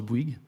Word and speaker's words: Bouygues: If you, we even have on our website how to pronounce Bouygues in English. So in English, B-W-E-E-G.